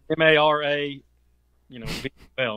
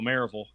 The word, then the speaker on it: Maryville: Maryville, Mm-hmm. Mara, V-L, Maryville. So, yeah, you're pretty close, and you're right. You can tell who's from Maryville and who's not when they're from Maryville when they pronounce it.